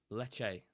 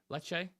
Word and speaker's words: Lecce: to be on smoke this morning leak it's pronounced Le leche leche leche there you go I can't pronounce an